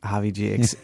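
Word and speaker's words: Javi Ji: G Javi G okay explain the g a little bit is this like kind of like Baba G yes correct exactly it's a uh it's a syllable that's added to your LA to your name in and the Hindu tradition in order to give you more reverence so let let's let's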